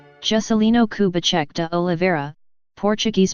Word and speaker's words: Juscelino Kubitschek: jessilee no kubacheck de Oliveira Portuguese pronunciation September 12th 1902 August 22nd 1976 known